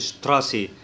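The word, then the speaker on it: Straße: ولما بيجي بعد منه تي نفس الكلام بيتنطق زي الشين، فبنقول شتراسي.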